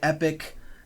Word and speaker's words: epoch: is known as the epoch which can be pronounced epic I think Epoch just sounds a little bit better so I'm going to use the word epoch either way we're going